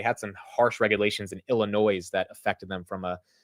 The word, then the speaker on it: Illinois: excited to get into Illinois because the S is silent of course of course